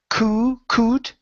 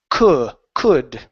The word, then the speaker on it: could: Instead of saying c could with an ooh sound, open the vowel up. Could could.